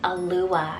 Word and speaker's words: Alua: adored then for something a little different is a Lua it's spelled a-l-u-a alua another very dreamy very soft